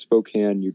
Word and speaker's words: Spokane: It's pronounced Spokane, you tard. Yeah. It's pronounced booba booba. Oh yeah, of course. I think the E's silent Spokane.